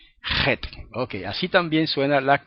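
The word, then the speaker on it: ח: Y en hebreo sería, pero no es así en hebreo se pronuncia un poco más fuerte, J. Como pronuncian muchos españoles la J, J, la J, la J, J. En hebreo es la Het, Het.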